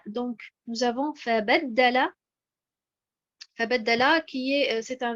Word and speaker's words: فبدل: Donc nous avons cette bonne prononciation qui est de mettre l'accentuation sur harakat al-ba. Donc nous avons fabaddala.